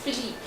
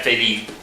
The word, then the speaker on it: Philippe: King Philippe. You don't say it like that. Yeah, Philippe. Philippe. Okay, it starts with an F.